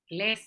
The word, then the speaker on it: les: Les. Les. Voilà, simplement les. Attention. Oui, ça marche. Excellent. C'est les. Mais on ne va pas prononcer le S à la fin. Simplement les.